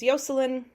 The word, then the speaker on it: Yocelin: so uh yeah so it's basically the Spanish pronunciation of the name Jocelyn uh but her it's spelled differently but her name is yoseline and she's she's a